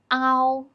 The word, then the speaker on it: ao: Next one is ow. Pronunciation is a transition from a to o. A is the main vowel. We pull our tongue a bit back when we pronounce a here. It's loud and clear, but the tongue position is lower to pronounce o here than we pronounce the simple final o. It's short and quiet.